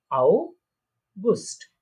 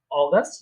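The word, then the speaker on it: August: আউগুস্ট, অগাস্ট যেটা আমরা বলি ইংলিশে সেটা আউগুস্ট, ঠিক আছে?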